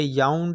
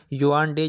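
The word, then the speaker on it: Yaoundé: Cameroon का capital है याउंड या युआंडे, जिस तरीके से आप इसको प्रोनाउंस करें, और उसकी करेंसी है फ्रैंक।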